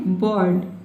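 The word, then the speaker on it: bird: इसको क्या पढ़ना है? बर्ड। बर्ड। ठीक है? यानी कि ब में अ का साउंड होना है। ब को थोड़ा लंबा पढ़ना है।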